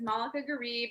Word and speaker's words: Malaka Gharib: bit about yourself yeah so my name is moleka garib i'm a journalist an artist a writer a